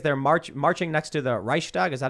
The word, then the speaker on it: Reichstag: And the funny thing is they're marching next to the Reichstag, is that how you pronounce it?